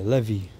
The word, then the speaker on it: Levi: either judah yehudi or levi levy that's how they say it where's the other tribes